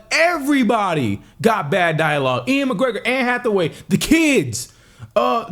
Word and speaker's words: Ewan McGregor: Especially y'all little lover boy, y'all golden boy, Ewan McGregor.